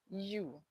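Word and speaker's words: eu-: So in continuation anytime you hear u U. Okay? So it's eu is spelled eu but we say u.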